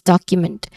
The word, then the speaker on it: document: Pronunciation wise, you start with doc. Okay, doc. There's a vowel sound there. Short vowel sound, and then you. So there's a schwa sound there. So it's stressed a quick vowel sound.